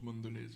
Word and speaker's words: Mondelez: Et ça se prononce Mondelez aussi.